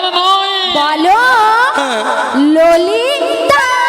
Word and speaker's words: ললিতা: ওটা লালাই লালাই নয়, নয়? হর ললো ললইও নয়। তাহলে কি? ওটা কি হবে জানো? ওই কি হবে? আর তুমি ঠিকঠাক উচ্চারণ করো। আচ্ছা বল। বলো ললিতা। ললিতা।